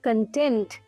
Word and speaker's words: content: अगला होमोग्राफ है कंटेंट या फिर कंटेंट। कंटेंट अगर हम इसे इस तरीके से प्रोनाउंस करते हैं तो ये बन जाता है एक नाउन।